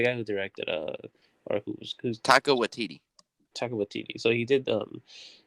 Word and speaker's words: Taika Waititi: The guy who directed or who's Taika Waititi.